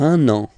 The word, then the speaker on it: un an: Il va partir pour un an. Okay? So you can hear that now I make this link between the two.